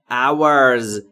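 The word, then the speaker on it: hour: در اینجا فا پ اورز اورز جمع اور تلفظ درستش ا لب‌ها حالت لولهای یا بوسه هوا خارج میشه میشه اور اور اور یعنی ساعت اورز یعنی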